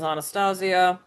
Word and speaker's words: Anastasia: Uh the year before there was 20th Century Fox gave us uh Don Bluth Anastasia proper pronunciation is Anastasia.